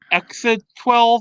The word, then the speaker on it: X Æ A-12: name, to where like the X is silent, A is pronounced chai, and A-12 is like short for like a jet classified as Archangel. So it's like, I guess his real name, like it's pronounced Archangel or something.